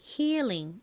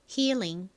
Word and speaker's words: healing: 참고로 한국식으로론 힐링 이렇게 읽지만 실제 발음은 healing.